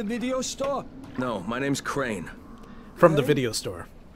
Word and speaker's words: Crane: No, my name's Crane. From the video store. Crane rhymes with train and brain and sane and crane and rain and rain and the other kind of plane.